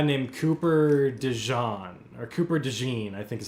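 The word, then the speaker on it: DeJean: was this guy named Cooper Deon or Cooper Deene I think is how you say his name. Like mustard. Okay. of Dene. Yeah, Dene.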